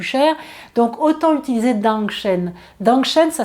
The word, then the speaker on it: Dangshen: Dangshen, ça s'écrit D-A-N-G, plus loin S-H-E-N, vous le trouverez sur les mêmes sites dont je vous parle.